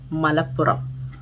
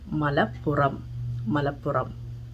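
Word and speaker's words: Malappuram: pronounce it because of the difference in the pronunciation of r so rubber rubber is rubber and the last one is the place malapura malapura is a district in kerala mala puram so i hope you have learned the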